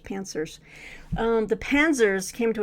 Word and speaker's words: Panzer: you as jokes pancers I actually pronounce panzers pancers um the panzers came